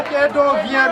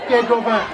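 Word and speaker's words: Kédovins: Non, pas Kédougou. Oui. Hein? Mais c'est très pas Kédo vient, mais Kédo 20. Et ça s'écrit K comme Kola, accent aigu, D-O-V-I-N. Les habitants de Kédougou, on les appelle les Kédo 20.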